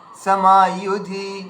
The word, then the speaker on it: समायुधि: আচ্ছা, এখানে ইউধিটা কেউ এমন উচ্চারণ করবে না, ইউধি কিংবা ইউধি, এভাবে না, समायुधि, কারণ দুটোই হ্রস্ব রয়েছে, তাহলে ইউধি ইউধি।